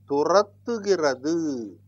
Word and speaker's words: துரத்துகிறது: Turattugirathu. Mark my pronunciation. Tu-ra-it-tu. This ta remains the same because of this consonant before that. Turattu. This ka becomes ga because of the combination of these letters.